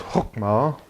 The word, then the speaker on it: Chokmah: Sometimes it's pronounced Hokmah, or Hokmah, or any other word you want to use because it's completely irrelevant.